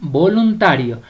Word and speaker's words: voluntario: Vamos con voluntario. Voluntario. La sílaba tónica es ta.